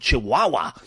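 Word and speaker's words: Chiwawa: is by a group called chaha but that's spelled c h i w a w and it's awesome and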